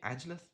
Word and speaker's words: Angel: Is your name Angelth? Is that how you say it? Angel or Angelith? Angel. That's angle. Angel. Angel. Angel.